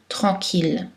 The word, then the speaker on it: tranquille: habituellement, culturel, L, pâle, mais ILL sont prononcées en général aïe, sauf dans les trois exceptions, mille, ville, tranquille, et tous leurs dérivés, comme village, million, tranquillement. Aussi dans le mot Achille ou le nom de ville Lille, c'est prononcé L.